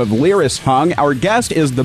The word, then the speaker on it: Lyris: Now, Hung's founder, Lyris Hung, am I pronouncing her first name right? It's Lyris, right?